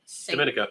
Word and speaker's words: Dominica: Dominica? Dominica, that's how you say it.